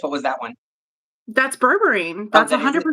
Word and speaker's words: berberine: Bourbon? Berberine.